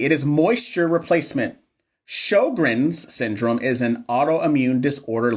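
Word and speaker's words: Sjögren's: It's Sjogren's. Oh, okay. Sjogren's. Okay, so I said it right. Sjogren's.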